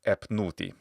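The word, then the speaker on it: ⲉⲫⲛⲟⲩϯ: But anyway, they do it like this, and it's epnuti. That's how this is pronounced. In the reconstructed Bohairic pronunciation of, say, the 3rd or 4th century AD.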